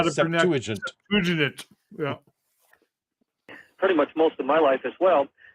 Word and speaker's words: Septuagint: And learned to say Learned how to Septuagint.